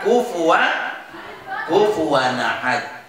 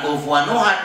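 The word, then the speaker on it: كُفُوًا أَحَدٌ: Maka kufuwan ahad. Jangan kufuwan nuhad, bukan, kufuwan ahad.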